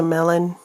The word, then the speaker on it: mellon: Did you know your friend is a melon? Yeah. Melanamine. Melanamine. That means my friend. So yeah, don't giggle. It's spelled Mellon. So it's a different melon, okay?